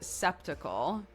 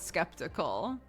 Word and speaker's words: skeptical: S C Ep it I want to pronounce it septical not skeptical that that c doesn't look like it should make a c noise to me but yeah I don't